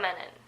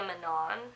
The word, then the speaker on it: Menon: like I need to reiterate that Sandhya Menon not Sandhya Minh on Sandhya minute but I mean I understand